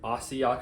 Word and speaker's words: asia: Again, asia, kind of like nopea. It's not 1 sound, it's asia. So it's going to be 3 syllables, and these aren't going to be a single vowel combination.